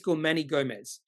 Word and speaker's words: Guzman y Gomez: Manny Gomez I had no idea how to pronounce this why but it is Gman Gomez and it so Gman Gomez less than on